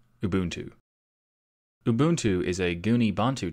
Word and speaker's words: Ubuntu: today's episode Lubuntu lubuntu ooh boon to Ubuntu Ubuntu is a goonie